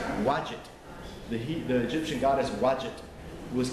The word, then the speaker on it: Wadjet: There were some goddesses, like the goddess, let me make sure I get the name pronounced, Wadjet.